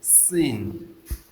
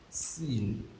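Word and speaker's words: سين: Now the next one is sin. Sin. S I N. Sin. Sin. When you want to pronounce the letter of sin, you make your teeth to touch each other, placing one on the other.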